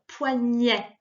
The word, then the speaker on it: poignet: Alors, tu entends la différence juste en passant hein, sur poignet. Le E et le T se prononcent.